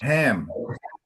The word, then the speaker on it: Ham: Ham. Ham. Ham. Yes, just like the the meat, ham.